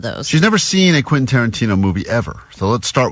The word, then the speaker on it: Quentin Tarantino: And she's never successfully pronounced Quentin Tarantino. That's true. All week, as she's been talking about this prize we have, she's been saying, Quentin? Quintanana.